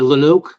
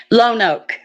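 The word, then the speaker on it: Llano: weak young girls yes the Leno am I pronouncing it right the Leno or l no Loke Leno County Sheriff Lan o Lano Lan o yes Lan O Okay Southern enough brother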